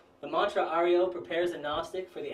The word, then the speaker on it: Ario: This mantra must be chanted every morning, dividing it into three syllables. Ah, ri, o, prolonging the sound of each letter.